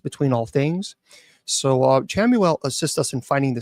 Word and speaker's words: Chamuel: h m u l some people say camel uh c h m